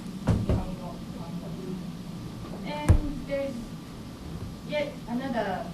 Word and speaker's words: Nihongo: Before K, G, sound, this character is pronounced as So, for example, Nihongo that is Japanese language, Nihongo. And before G sound, this is Nihongo.